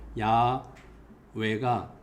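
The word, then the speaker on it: 야훼: 어 알게 되니깐 어 그것은 여호와보다는 야외가 어 더 가까운 발음이다.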